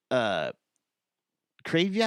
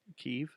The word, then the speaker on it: Kyiv: Like Kryvya? Is that how you say it? The capital of the Ukraine? Kyiv. Kyivya? Just Kyiv.